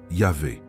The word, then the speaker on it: Yahvé: Des études linguistiques récentes, croisant l'hébreu biblique, l'araméen ancien et les transcriptions grecques primitives, permettent de reconstituer une prononciation probable, Yahweh, ou selon certaines variantes, Yahvé. Mais ce qui est fascinant, c'est la signification profonde de ce nom.